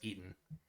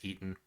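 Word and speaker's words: Eton: i i keep forgetting how you're supposed to pronounce that thing it looks like it should be edinburgh but it's eaten e-t-o-n is where he went to school and i thought it was pronounced but apparently it's eaten um okay and we're through the down so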